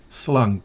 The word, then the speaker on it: slunk: Slunk. La K se escucha con firmeza.